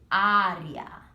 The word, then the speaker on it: área: You hear a change in the A sound. Instead of area, you say área.